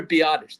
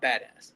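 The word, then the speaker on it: Biadasz: Tyler Biottish. I was have I was saying badass so much on last episode. It's Tyler Biottish. the center. That is his name. It's Tyler Biottish. Not badass.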